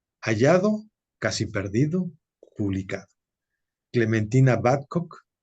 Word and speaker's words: Battcock: con dos autoras con Clementina dime si estoy pronunciando bien tu apellido por favor badcock si está correcto Está correcto pero no hay